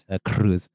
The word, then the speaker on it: Delacruz: You gotta really roll your R with the Delacruz. Delacruz.